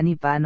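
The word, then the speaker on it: Nippon: usando el kanji y se pronuncia ni pan o nian antes de que fuera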